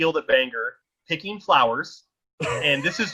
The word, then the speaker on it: Bangor: Bangor picking flowers, and this is just an example of what my brother was like.